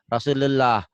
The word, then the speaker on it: Rasulullah: Kalau ditulis Latin kan Rasulullah, rahmatullah. Ini Hmm. nulis saya bukan begini kalau saya bantu gini. Nih Maci nulisnya. Rosu, tuh U-nya double. Lu, seakan-akan ada W-nya Maci itu.